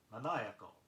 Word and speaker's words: maniacal: Next word, maniacal, M-A-N-I-A-C-A-L, like a maniac. Careful how you accent it.